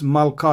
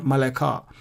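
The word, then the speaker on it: מלכה: Again, before the lamed, there is a short vowel, patach. And because of that, we don't pronounce the shwa under lamed.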